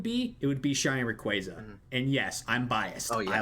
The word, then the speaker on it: Rayquaza: Yeah, at Pokemon Worlds they actually print out this is how you say Rayquaza.